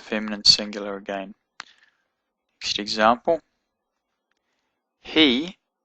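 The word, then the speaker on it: הִוא: He, even though it's got a vav in it, it's got the herek, so it's actually pronounced he.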